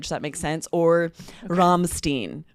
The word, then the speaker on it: Rammstein: Even Americans would just say Rammstein when it's a band from Germany or from another country. Even we say it in the accent that band would say it.